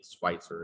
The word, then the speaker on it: Schweitzer: bones um by mary schweitzer the spicer is like the american pronunciation of her name she is the first